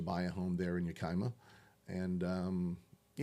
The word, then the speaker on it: Yakima: You live in Yakima. Is that how I pronounce it? Yakima, Washington.